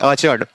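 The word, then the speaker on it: orchard: ऐसे आचर्ड, OCHARD आचर्ड, PORCH फॉच।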